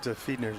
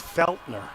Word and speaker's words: Felner: It wasn't uh I'm sorry I mispronounced Feedner's last. It's Felner.